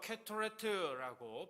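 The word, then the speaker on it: קטורת: 히브리어로 캐토레트라고 발음을 하는데 제단 위에서 태워 하나님께 올려 드리는 향기로운 재물을 이야기합니다.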